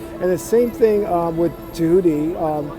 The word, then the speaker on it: Tehuti: And the same thing with Tehuti. There are people who are pronouncing as Jehuti, or if you want